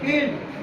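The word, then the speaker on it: field: जैसे FIL, फील्ड, ये नहीं कि आई को अलग पढ़ेंगे ई को अलग पढ़ेंगे, दोनों को मिला के हम लोग आई बोलेंगे, आई और ई दोनों को मिला के आई बोलेंगे।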